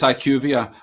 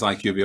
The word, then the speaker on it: IQVIA: uh finalists there uh i should say it's iqvia uh just in case iqb are watching they're gonna dig us up on the pronunciation there but uh unfortunately we're